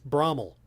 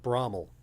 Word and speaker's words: Bramwell: It's Brahmel. The locals call it Brahmel. It's spelled Bramwell.